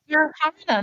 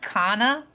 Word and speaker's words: Sarhana: Sarhana, not Kana.